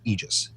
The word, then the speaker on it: Aegis: the original Greek pronunciation because it is a Greek word. Yep, it is. Yeah. The actual original Greek pronunciation is Aegis.